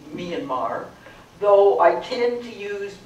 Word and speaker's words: Myanmar: about that name myanmar in the country it's pronounced myanmar and uh it's an